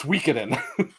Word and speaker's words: Suikoden: It triggers me the way that you pronounce that, but you're right. You But say it's Suikoden. Suikoden. It's Suikoden.